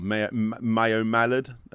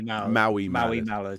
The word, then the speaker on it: Maui Mallard: I always say it wrong. Mayo Mallard game as well. Maui Mallard.